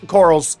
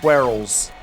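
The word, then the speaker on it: Kolulu: Oh, corals. I love corals so much. Or I'm sorry, quarrels is how it's pronounced.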